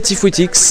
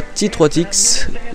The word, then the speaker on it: Tifouitix: Salut tout le monde, c'est Tifouitix et non pas T3Tix. Maintenant vous savez mon nom, comme ça vous savez le prononcer.